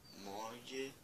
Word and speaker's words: moje: O moje se escreve M-O-G-E. Aí você percebe, moje, moje. O J fica com som de I.